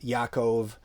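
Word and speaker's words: יעקב: know for instance uh matthew is mati diao you know john is yokanon james is yaakov and you can hear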